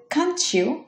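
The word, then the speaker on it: can't you: পরেরটা হচ্ছে কান্ট ইউ, এটা উচ্চারণ হবে কাঞ্চিউ, কাঞ্চিউ, কাঞ্চিউ।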